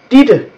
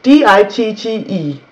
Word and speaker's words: Ditte: And then we have, whenever in Danish you use a double T, when you use T 2 times in a row, it is actually pronounced as a D, like my name, Ditte, D-I-T-T-E, Ditte. That is just a D sound, even though it's actually T's.